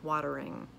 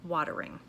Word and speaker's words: watering: The T has a little more of a D sound, water, mouth watering. You don't hear the mouth watering, you hear mouth watering. Okay, so that could be a regional pronunciation there, but very common in the Midwest to have that T sounding like a D sound, watering, okay?